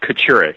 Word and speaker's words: Kachurick: do you pronounce it it is pronounced Catterick it is Kocurek